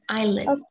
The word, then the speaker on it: island: This one is island, which is the S sound here is silent. I think it's silent. No, I silent. The S sound is silent in island.